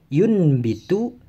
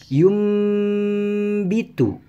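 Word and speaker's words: يُنبِتُ: menjadi Bunyi huruf mim Jadi bukan dibaca yunbitu tapi dibaca yummy itu jadi seolah-olah disini adalah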